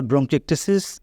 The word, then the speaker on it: bronchiectasis: ব্রঙ্কিটেসিস বলা যেতে পারে ব্রঙ্কাইটিস আর ব্রঙ্কিটেসিস উচ্চারণগত ভিন্নতা আছে এবং রোগেও ভিন্নতা আছে